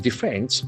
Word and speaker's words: defend: Here also we have got a word with two syllables. Defend. Defend. Defend. Accent falls on the second syllable.